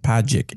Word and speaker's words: Pagic: It's Pagic. Even if rhymes with magic. Pagic.